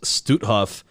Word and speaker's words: Stutthof: this that the constant tracing camp and it's pronounced stutthof and the mass murder that took place inside